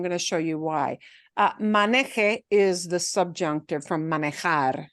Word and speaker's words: maneje: If I punch the last syllable, it becomes something totally different.